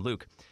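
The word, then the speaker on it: Lewk: and i closed by that new word is my name not spelled the same way luke l-e-w-k i had no idea what this word was all i knew is that was pronounced like my name luke so what it is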